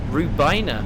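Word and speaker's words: Rhiwbina: Rubina. So it's R H I W B I N A pronounced R. We will shortly be arriving at Rubina.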